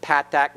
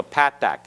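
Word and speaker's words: patach: what path back alright remember the parents of Pat tack not pok pok pok is a modern Hebrew pronunciation that loses the differentiation that is made between the path back and the comments okay so Pat dak is the single line like a - dropped below the letter and then the second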